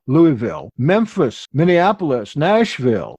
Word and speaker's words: Louisville: Houston, Indianapolis, Jacksonville, Kansas City, Las Vegas, Little Rock, Los Angeles, Lowville. That's how they pronounce it there. Lowville, Louisville, Memphis, Minneapolis, Nashville.